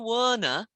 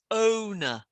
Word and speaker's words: owner: pronunciation just with because you tend to say warner yeah so is that rather than warner it's owner that's it in india